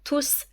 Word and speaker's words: tous: tous les enfants sont tous là tous les étrangers aiment visiter Paris dans ce cas le mot tout est un adjectif qualificatif et donc on ne prononce pas le S on dit tous les étrangers visiter Paris